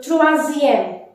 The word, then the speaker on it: troisième: How to say number 3rd? Again, you have to add IEME in the number. So trois and EM. So troisième.